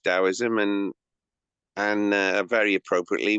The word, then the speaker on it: Taoism: So, Dowoism spelled with a T but pronounced with a D. Uh, T A O I S M and um but yeah, it's pronounced Daoism and and uh very